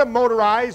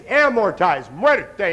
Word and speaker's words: amortize: by far the most mispronounced the second most mispronounced is amortized it's not a motorize or am morz it's amorti anybody speaks Spanish in here what's it mean